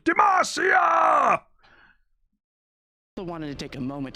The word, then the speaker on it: Demacia: It used to be Demacia. Is it Demacia now? Or is he just pronouncing it that way because of an accent thing? It is Demacia, though. Like, that's what Garen has been yelling for the past 14 years.